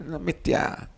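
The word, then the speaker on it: मिथ्या: Mithya you pronounce as something else, Westerners pronounce it as something else. No, mithya.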